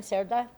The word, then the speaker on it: Sera: right now is Sera is that how you say your last name Sera that was perfect pronunciation w wow oh my